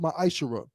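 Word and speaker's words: ma'aser: Means 10th in Hebrew and is pronounced ma'ashara.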